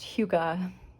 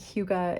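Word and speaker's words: hygge: the Danish uh concept I think it's pronounced Huga of having things in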